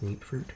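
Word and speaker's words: Mutfruit: I thought it was mut fruit, but everybody else seems to pronounce it in-game as meat fruit.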